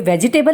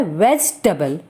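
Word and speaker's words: vegetable: क्या कहते हैं वेजिटेबल यह वेजिटेबल नहीं होता यह होता है वेस्ट टेबल the next word is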